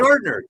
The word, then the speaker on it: Gardner: Yeah, Sas Gardener. Gardner. Thank you.